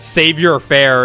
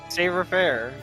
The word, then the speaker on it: savoir-faire: We always just said savior-faire in Disco Elysium. Savoir-faire, dude.